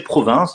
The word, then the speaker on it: Provins: dans la ville de provins alors huysmans a probablement choisi ce nom parce que on peut le prononcer province ont qui sont en